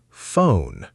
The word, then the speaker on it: phone: Phone. The FPH makes an F sound.